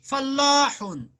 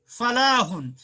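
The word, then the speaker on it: فلّاح: अगर आप यहाँ फल्लाह जो लाम के ऊपर तजदीद है, फल्लाहुन मीन्स किसान, अगर आप ये तजदीद हटा देंगे तो पढ़ेंगे फलाहुन, फलाहुन मीन्स कामयाबी, सक्सेस। सिर्फ तजदीद का फर्क है, इसलिए तजदीद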